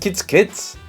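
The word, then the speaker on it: chiț-chiț: In English, they squeak, but in Romanian, they make a chit chit sound, pronounced kids kids.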